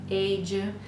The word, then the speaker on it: page: many sounds in page, page. So the GE at the end of page is what's really making this J sound. And the E is silent, and so on.